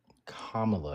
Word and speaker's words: Kamala: I believe that, uh, Kamla, and I'm going to say her name right out of respect for you, my love.